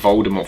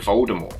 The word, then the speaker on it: Voldemort: the full story of Voldemort for some reason pronouncing the T even though JK Rowling has now said that the T is actually silent in Voldemort.